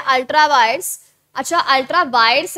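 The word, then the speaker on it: ultra vires: है अल्ट्रा वायड्स अच्छा अल्ट्रा वायड्स है वायरस मत कर देना वी आई आर ई S spelling रखना डॉक्ट्रिन ऑफ अल्ट्रा वायड्स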